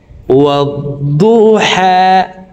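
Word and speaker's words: وَالضُّحَىٰ: দদ হরফকে মোটা করে উচ্চারণ করব, ওয়াদু। আমরা অনেকে দদ হরফের উচ্চারণ সঠিকভাবে পড়তে পারি না, দদের উচ্চারণ দালের উচ্চারণ করে থাকি, ওয়াদ্দু ওয়াদ্দু এইভাবে পড়ে থাকি।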